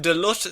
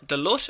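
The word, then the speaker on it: Duluth: naked man rescued from Delut Sewer. Delut or Doot? D U L U T H. How would you pronounce that? I would say Duth. Okay.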